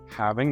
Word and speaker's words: halving: It's halving. That's how you say it. That's how Google says it. But there's an L in the middle, so I'm just going to say halving.